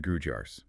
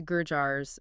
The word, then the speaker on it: Gurjar: Wikipedia entry covering the Gurjars. Sometimes pronounced Gurjars, depending on where you are. Yeah, both are used.